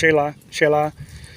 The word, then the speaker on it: Xela: Our base was at Xela, Xela, it's pronounced Xela, which means God's place.